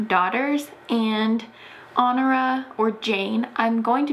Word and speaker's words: Honora: She was actually born with the name Honora Kelly. I think that's how you pronounce it. It's like H-O-N-O-R-A, like the word honor. So I think the H is silent because you don't say honor, honora.